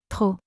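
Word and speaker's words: trop: Two, too much or too many when it expresses excess means P. The letter P at the end is silent, not pronounced.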